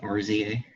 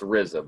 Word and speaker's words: RZA: it is that's the rizza very good i see you learning very good yes it is thereza very good oh yeah it's rizza not rza well it's pronounced rizza but yes it's rza